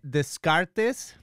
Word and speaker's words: Descartes: is this much probably renee descartes that's how we say in spanish i think it has a different uh pronunciation in english uh the cards maybe uh they call him